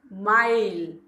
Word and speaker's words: mile: Here I am reading I and E. E is silent. M, M, M. I, my, L, mile.